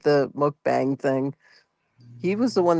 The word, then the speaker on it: mukbang: Yeah, it's mukbang.